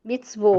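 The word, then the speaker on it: מצוות: Mitzvot. Ok? Isso, mitzvot. Então, aqui eu tenho uma sílaba, vo.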